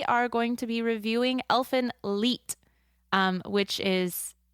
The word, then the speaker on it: Elfen Lied: turn their D's into they turn their D's into t well that's weird well